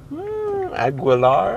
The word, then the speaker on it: Aguilar: Her name is Angela Aguilar, I think is how you pronounce it. It's kind of like Christina Aguilera, but it's not Aguilera. I think it's just Aguilar.